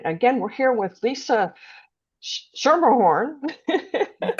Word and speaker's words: Schermerhorn: And again, we're here with Lisa Shermerhorn.